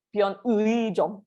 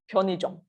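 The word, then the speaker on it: 편의점: Okay, ingat if it's in the middle of the word, we don't say pion ui jom. We say it is pion i jom.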